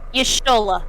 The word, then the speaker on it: Y'shtola: Y'shtola.